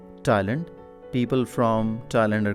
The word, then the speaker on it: Thailand: Now the word Thailand, in Urdu it is pronounced as Thailand. That's okay in Urdu, but in English it is Thailand.